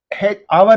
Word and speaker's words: hour: Now, hour is a silent H word, and this word is beginning with a vowel sound.